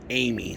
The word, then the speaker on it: Amis: Patriot and uh yeah it's pronounced Amy so I've already got that wrong it's not Amos it's uh Thomas Amy